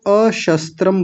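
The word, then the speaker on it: अशस्त्रम्: यदि माम प्रतिकारम प्रतिकारम में म अलग हो जाएगा। अ निकलेगा तो अशस्त्रम बोला जाएगा।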